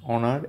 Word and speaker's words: honor: not uh pronounced here honest and honor H is not pronounced and our h o